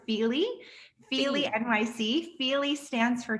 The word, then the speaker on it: Fyli: little bit of context we pronounce it feely feely nyc feely stands